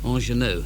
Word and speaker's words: Ingenue: Ingenue, so that's how you pronounce it, by Loudon Wainwright III, and it's